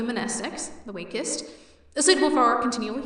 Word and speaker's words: mnestics: Monestics, Class W, X, Y, and Z. Same Greek root as the word mnemonic. The M is silent.